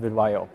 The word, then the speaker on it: Vidyo: So you're seeing that with companies like Video, I pronounce it VidYO, Acano, PackSip.